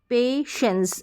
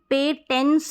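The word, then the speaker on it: patience: पेशेंस यहां पर देखिए पेशेंस है अब ये जो पेटेंस नहीं पढ़ेंगे यानी कि टी जो है यहां पर देख रहे हैं टी आई को भी हम श पढ़ते हैं यह भी मैंने आपको बताया टी आई को श पढ़ते हैं एस आई को श पढ़ते हैं तो यहां पर टी आई को श पढ़ा जा रहा है तो पेशेंस हो रहा है फिर देखिए यह बड़ी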